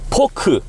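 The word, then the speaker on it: 포크: Fork, they pronounce poku. Poku. So basically, R, T, and F too, they don't pronounce F. So we pronounce forks, right? They don't pronounce F. So just poke.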